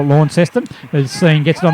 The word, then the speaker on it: Launceston: Launceston, mate, is a Tasmanian. You don't pronounce it with a W. Yeah, but we talk about it in New South Wales here, so we'll call it Launceston.